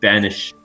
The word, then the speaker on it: banished: than being killed himself he is banished or banished it as they pronounce it back then vanished he can